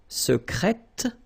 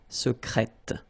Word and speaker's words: secrète: Secret, secrète, secrètement. Okay, so I tend to insist a little bit on it just to make you hear the difference between the masculine. Secret, secrète. Okay, you're pronouncing the T.